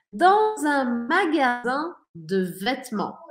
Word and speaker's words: magasin: Quando eu falo magasin e deixo minha boca aberta, não falo N no final, isso significa uma loja. Quando eu falo magazine e eu pronuncio esse N no final, isso significa uma revista.